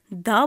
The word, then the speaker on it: the: vowels sound like animal D will be pronounced like duh bird the animal with consonant sound dour and with vowel sound D for the topics with